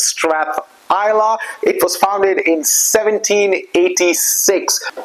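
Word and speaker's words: Strathisla: Strath Isa it's spelled like this but it's pronounced Strath Isa it was founded in 1786 so what's special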